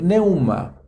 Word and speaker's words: pneuma: los vehículos los carros la palabra pneuma se escribe con una p 1º p neuman y significa un espíritu